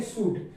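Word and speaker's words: should: कुड, इसको पढ़ेंगे वुड और इसको पढ़ेंगे सूड। इसी प्रकार हमने डी साइलेंट वर्ड के बारे में मतलब जो एल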